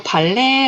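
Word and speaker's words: ballet: 드 다음에 짜 이거 발레 라 와서 t 발음을 안 해야 되요 발레도 할수 있게요 발가락으로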